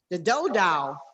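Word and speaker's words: Dodow: Are you pronouncing that right? Am I Dow? D-O-D-O-W.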